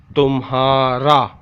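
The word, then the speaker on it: تمہارا: Te mean tum, te mean tum, he alif ha, tumha, re alif ra, tumhara.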